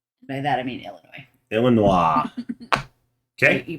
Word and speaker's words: Illinois: I'm going to travel to Helenois. By that, I mean Illinois. Illinois. Okay. You pronounce it wrong. It's Helenois. Helenois. Yeah. There's no H in Illinois.